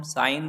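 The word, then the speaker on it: sign: Next शब्द है हस्ताक्षर, हस्ताक्षर मतलब होता है साइन, ये साइन जो है इसमें G है, ये G शब्द साइलेंट होता है तो इसको हम साइन पढ़ते हैं सिर्फ।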